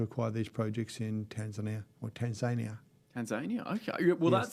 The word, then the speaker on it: Tanzania: Tanzania, okay. Well, yes, the locals pronounce it Tanzania. I was unfamiliar with that.